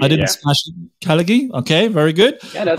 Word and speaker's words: Khalighy: Did I pronounce that correctly? That's very correct. Khalighy, I didn't smash it. Khalighy?